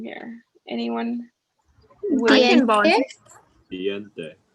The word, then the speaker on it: diente: Diente. Diente, perfect. Perfect. So yeah, the important thing to know here is like, it's not going to be like English where we kind of merge vowels together.